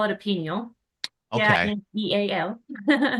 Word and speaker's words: pineal: The pineal gland or pineal gland, depending on how you say it. I call it a pineal.